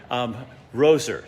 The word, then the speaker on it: Roser: This is Roser.